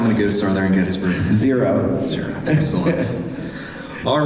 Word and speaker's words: Gettysburg: Is it Gettysburg or Gettysburg? Gettysburg. Are you sure? Do you go to Getty Gas or Get a Gas?